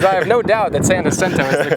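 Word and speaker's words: San Jacinto: saying here is I have no doubt that Santa sento is the correct way to pronounce it but San jento is what I've heard just about everybody say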